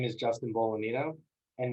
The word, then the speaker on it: Bolognino: Hi, my name is Justin Bolognino, and the G is silent.